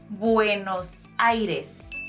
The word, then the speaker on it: Buenos Aires: And also it's pronounced Buenos Aires, which literally means good airs.